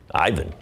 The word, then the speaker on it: Ivan: How do you say it in Bosnia? In Bosnian. Ivan.